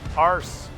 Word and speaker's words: arse: all it is okay if I if I pronounce the word the British way with an R if you include an R in the word so it just pronounced arse arse all but if you